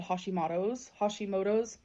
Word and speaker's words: Hashimoto: I used to not be able to I thought it was H-O for some reason. It's not ho, it's ha.